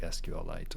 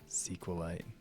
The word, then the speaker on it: SQLite: And then we expose an interface so that you can like set up your own and use something like SQLite or like Redis or something, which would probably make more sense.